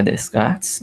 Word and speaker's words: Descartes: Monsenhor aportuguesadas e a Descartes mas o nome é como como se chama mesmo é matemático redecard a René tira francês a pronúncia é como se não tivesse SS de cá Aí você pode